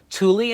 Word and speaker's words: Thule: years ago Thule and Yakima that's how you pronounce both of those companies names thuli and Yakima decided to make it so that